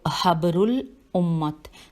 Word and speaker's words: حبر الامت: اب میں ہجے کرتی ہوں، ہے بے رے پیش الف لام الف، پھر الف پہ بھی پیش ہے اور میم تے، تو حبر الامت تھے.